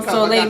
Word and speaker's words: Souliel: haitian or no french you know solei means son but you know i spell it differently like so like your soul sir so um you